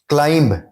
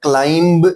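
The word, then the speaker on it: climb: کلائمب, کلائمب میں be silent ہے, ہم کلائمب نہیں کہتے, ہم کہتے ہیں کلائم.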